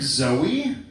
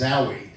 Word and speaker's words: Zowie: Zoe, it's supposed to be pronounced Zowie. And so, people say Zooey and one time my